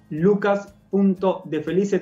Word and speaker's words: Lucas.defelice: Lucas.defelice, tal como se escribe, como se dice, D-E-F-E-L-I-C-E.